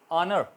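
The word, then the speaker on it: honor: ऑनर, ऑनर इज़्ज़त, H silent रहा।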